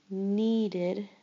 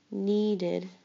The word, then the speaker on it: needed: Needed. Needed. Id. Needed. Id. You hear the id sound.